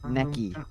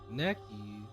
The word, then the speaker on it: Necky: Necky. How do I show that? That's how it's pronounced. Necky. There we go. It's like neck Alright. and then E.